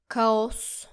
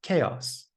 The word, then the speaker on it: chaos: Don't say it like co. It's chaos. Chaos, as in grayox.